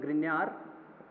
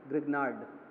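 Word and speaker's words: Grignard: एक होता है भाई ग्रिन्यार अभिक्रमक, है ना, हिंदी में बोलते हैं ग्रिन्यार अभिक्रमक, और इंग्लिश में इसी का प्रोनाउंसिएशन होता है ग्रिग्नार्ड रिएजेंट। तो ग्रिन्यार अभिक्रमक ये होता है भाई RMgX।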